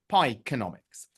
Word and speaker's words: Pieconomics: And so that is the idea behind the difficult to pronounce Pieconomics, but just as a reminder, it's economics, Pieconomics.